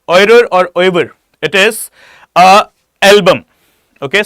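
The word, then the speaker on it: oeuvre: Okay, guys, please mark the name Raja Ravi Verma, and his oirer we call it or pronounce it oirer.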